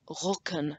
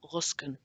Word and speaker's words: Rücken: in a sec, C-K-E-N, it would be Rücken, not Rusken.